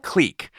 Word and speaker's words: Qleek: you and your comp's click click qle e e k oh yes the company is called click but that doesn't stop